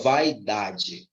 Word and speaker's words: vaidade: um hiato vaidade vaidade vai não é assim que você fala vai vai e dá de Ok ó como você vaidade com calma vai e dá eu falo vaidade Eu não falo você